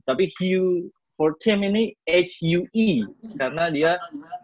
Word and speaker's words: Huw: Lou Harvey itu yang jadi waktu saya berkuliah di Inggris itu jadi saya jadi tahu ini ternyata kalau Hue ini tuh ejaannya Hugh juga, tapi it's a Welsh name.